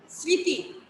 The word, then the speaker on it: স্মৃতি: যেমন ধরো স্মৃতি, যেমন ধরো স্মৃতি, স্মৃতির মধ্যে কি আছে দেখো, মফলা আছে না, দন্তাশয় ম, ঋকার তৎসিকার তি। এই ক্ষেত্রে দেখো আমাদের ময়ের উচ্চারণটা হচ্ছে না।